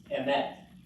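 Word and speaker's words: אמת: This is a tricky one because the accent is actually not on the first syllable, it's on the last, so you got it, that's right. It's emet.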